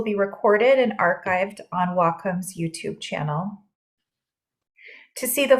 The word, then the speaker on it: Wacom: displays in the creative Community our name is pronounced W which means Harmony in Japanese and Comm is in computer so Wacom but we still answer to wcom or Wacom